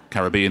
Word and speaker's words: Caribbean: wanted to go to the Caribbean or the Caribbean uh Caribbean is the correct way to pronounce it um so I knew